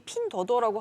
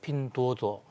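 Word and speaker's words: 拼多多: 박사님, 이게 어플리케이션 이름이 핀더더라고 하던데 중국 온라인 이용자 4분의 3이 거의 이용하는 쇼핑 어플이라고 하더라고요. 네, 요즘 중국어 발음이 굉장히 좋아지셨어요. 아, 그런가요? 네, 핀도도.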